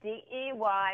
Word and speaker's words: Dey: got your name right it's day right yes it is it's de it's my father's initials it's not why so I get that people oftentimes don't know how to uh pronounce it because of the e but it is it's day okay yeah I was